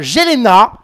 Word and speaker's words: Jelena: Nouvelle candidate des Marseillais à prendre place dans cette baignoire, Yelena. Yelena. Ah oui, pardon, si dès le début je me trompe sur la prononciation.